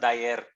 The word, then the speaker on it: Dyer: It's pronounced Dyer.